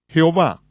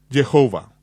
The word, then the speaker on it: Jehová: Jehová, un nombre que se encuentra en algunas versiones de la Biblia, es una palabra híbrida obtenida de pronunciar las 4 vocales como consonantes y sumando las vocales de la palabra hebrea Adonai, que significa Señor.